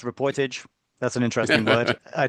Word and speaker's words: Reportage: It is Reportage. Okay, so everyone's got that. This is It's spelt Reportage.